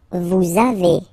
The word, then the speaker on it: vous avez: Next one, same thing. A little liaison, little link between the two, okay? Vous avez, all right?